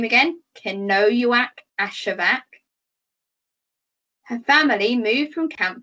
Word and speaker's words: Kenojuak Ashevak: was about fourteen or fifteen years old so cano act ashevak say her name again cannoywack ashevak her family moved from camp to camp depending